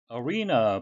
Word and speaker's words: arena: Arena, 발음에 의해서 되겠는데요. E는 장음이 되겠고요. 우리말 표기는 아레나라고 쓰는데 영어식 발음은 arena가 되겠습니다.